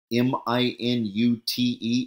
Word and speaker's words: minute: You know this word? minute. It's spelled like minute, but it means really small.